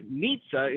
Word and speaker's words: Nitsa: Like, they want to, Nitsa is a very, it rhymes with pizza.